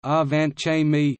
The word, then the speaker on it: Angewandte Chemie: angahuan chemi german pronunciation our vant Jaime meaning applied chemistry is a weekly peer-reviewed scientific